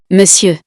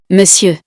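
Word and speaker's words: Monsieur: if so you now know that we say miss you it's really important to notice that the pronunciation of this word is quite strange because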